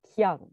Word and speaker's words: Kea: Alors, c'est Kia, je ne prononce pas à la japonaise.